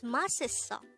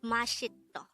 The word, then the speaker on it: 맛있어: for the case of mas is so it's maseo it's not mashito again this word is pronounced as ma moving on the meaning of